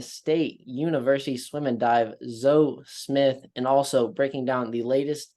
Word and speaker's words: Zoe: I did notice uh your name is spelled Zoe but it is zo yeah proun zo all